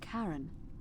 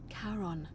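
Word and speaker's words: Charon: It's just as you described it, only your pronunciation is a little off. The name you heard wasn't Karen. It was C H A R O N. as in Karon, the fairyman of the dead. Kaon, who in exchange for the right coin, helps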